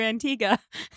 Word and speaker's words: Antigua: How did I have to find this out by watching a a girl row boat across the Atlantic to Antigua?